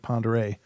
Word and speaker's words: Pend Oreille: area ladies and gentlemans called Lake Pend Oreille but it's spelled pend orielle it's a French word apparently I'm not sure